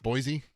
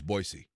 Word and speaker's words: Boise: Boise. No, it's Boisey. That's a That's B O I S E. It's Boisey. You say Boise. It's not an It's not a Z. It's an S.